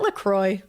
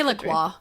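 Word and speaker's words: La Croix: I was bisexual, non-binary, in the same way that a is it Lacroy? Say Laqua. Laqua. Laqua. Laqua. Oh, he came back. So, Laqua. That sounds better.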